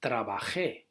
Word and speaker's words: trabajé: Remember, for example, for trabajar, trabajar is trabajé. Okay, it's the same ending, but there the stress is on the e.